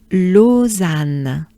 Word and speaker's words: Lausanne: Peak, similar to a peak, tiny shortened, peak, olympique, de, Lausanne, Lausanne, lo, o, za, a, n, Anne, Anne, Lausanne, and a bit shortened.